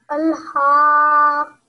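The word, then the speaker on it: الْحَاقَّةُ: Al-haqqatu. Al-haqqatu. Not haqqatu. It's the other ha. This is the ha when you pronounce it from the middle of your throat.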